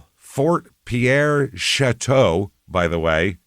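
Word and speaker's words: Chouteau: Oh, Fort Pierre Chateau, by the way, chatau.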